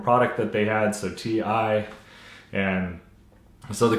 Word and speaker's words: Ti: So I like saying Ti, it rolls off the tongue. But correct way is TI, so I'm gonna try and correct myself and try saying TI in any future videos.